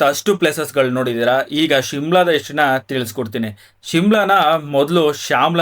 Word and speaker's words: ಶಿಮ್ಲಾ: later on ಬ್ರಿಟಿಷ್ರು ಯಾವಾಗ ಈ ಒಂದು ಜಾಬ್ಕ್ಕೆ ಸಮ್ಮರ್ ವೆಕೇಶನ್ಗೆ ಅಂತ ಬರ್ತಾರೆ ಅವರಿಗೆ ಶಾಮ್ಲಾ ಅನ್ನೋ ಪದ ನೀಟಾಗಿ ಉಚ್ಚಾರಣೆ ಆಗಿದೆ ಶಾಮ್ಲಾ ಹೋಗಿ ಶಿಮ್ಲಾ ಆಗಿದೆ ಅಂತ ಇಲ್ಲಿನ ಜನ ಹೇಳ್ತಾರೆ ಸನ್ಸೆಟ್